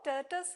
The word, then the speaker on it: tortoise: The word tortoise rhymes with option A, toys. Option B, poise. Option C, fortis. Option D, noise. Which is the correct answer, children? Option C, fortis. The word rhymes with fortis.